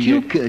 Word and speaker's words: Tucker: Tucker, we... Tuker, Captain. It's pronounced Tuker.